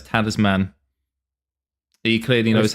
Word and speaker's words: Talisman: A lot of the history of the game, but unfortunately since this gentleman is saying it, we now have to say it as Tanner's man.